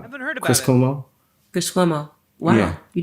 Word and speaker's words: Cuomo: Cuomo. Chris Cuomo. Wow. Yeah. You did Chris Cuomo?